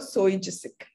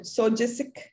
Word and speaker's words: SOGIESC: Okay, you can, a lot of people pronounce it the way they want it. Some call it SOGISIC, some call it SOGISIC. So that's an acronym and you can pronounce it the way you want it.